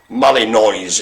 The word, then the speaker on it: Malinois: okay the belgian shepherd malinois i presume it's pronounced not how it's spelled so it's sort of molly noise if you will at